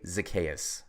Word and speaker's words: Zaccheaus: Olamide Zaccheaus.